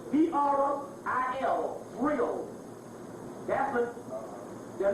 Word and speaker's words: Vril: That's the book, and the virile is spelled V-R-I-L, Vril.